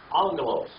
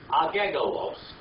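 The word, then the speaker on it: ἄγγελος: Angelos. Now, if you pronounced every letter in there, what would it be? Agegolos. But that's all it is, angelos.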